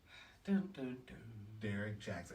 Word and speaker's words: Derrick Jaxn: flooding social media i would say his name derek jackson and his how do you even spell your